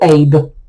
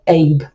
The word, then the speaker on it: Eb: So your masculine or outgoing sign that supports your knife day sign is Road or Abe. It's spelled Eb, but it's pronounced Abe.